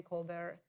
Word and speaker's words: Colbert: As you know, Stephen Colbert, I never pronounced that correctly.